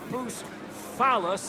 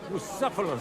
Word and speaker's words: Bucephalus: What kind of name is Bruce Phallus, anyway? It's pronounced Bucephalus, which comes.